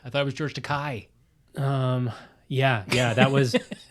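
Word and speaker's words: Takei: George to K I thought it was George to Kai um yeah yeah that was I think that was a famous m iation on the part of will Shatner I hear that he insistently called him takai wow even though it's yeah well whatever whatever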